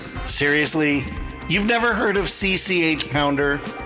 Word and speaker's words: CCH: you've never heard of CCH Pounder that's how her name is pronounced spelled out not spoken phonetically so it's not pounder